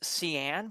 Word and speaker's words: Sean: trying to grow flowers our name is cyan but it's spelled Sean s-e-a-n um Sean is a